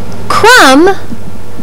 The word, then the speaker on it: crumb: Babble believe and crib this letter is silent in words like lamb crumb and doubt this sound is S